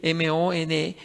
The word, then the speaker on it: Money: Pueden ustedes ver en internet, vean, pongan la palabra Money, el apellido Money, así se escribe, Monei, que es el hombre que inició, fundó la ideología de género.